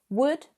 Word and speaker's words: would: Although all of these modal verbs contain an L, the L is not pronounced. It is silent. So would literally sounds like wood, as in a forest, a tree, the material.